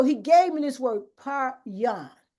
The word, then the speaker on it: paryon: So he gave me this word, paryon. And so I pronounced it paryon. And I want everybody to say it. You don't have to unmute yourself, but say paryon, paryon. That's how I pronounce it, paryon.